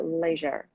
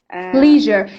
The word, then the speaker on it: leisure: Part B, informal expressions, how people spend their leisure. Leisure. See, leisure is American pronunciation and leisure is British. Okay, both of them are correct.